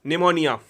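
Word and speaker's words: pneumonia: tuberculosis and टीवी और निमोनिया इसमें piece silent रहता निमोनिया में निमोनिया तो कोई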